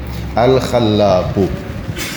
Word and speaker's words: Al-Khallâq: Depois A com circunflexo, Khalla, depois Q, Al-Khallaq. E você que fala árabe, vamos. Alif Lam, Kha, Lam, Alif, tem aí no Lam tem um tashdid, e Qaf. Al-Khallaq.